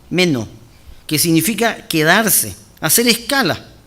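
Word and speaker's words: μένω: Aquí la palabra persistir viene del griego meno, con acento en la E, meno, que significa quedarse, hacer escala.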